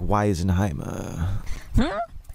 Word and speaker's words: Wizenheimer: How did someone like you become associated with a character like Wizenheimer? Oh, it's pronounced Wizenheimer.